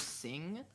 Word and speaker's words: Cing: But like, I think it's just so interesting because I think the developers Sing, C-I-N-G, that's Sing. That's their name.